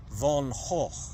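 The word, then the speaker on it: Van Gogh: Actually, I said is pronounced von Ho and made a guttural sound because it's Flemish.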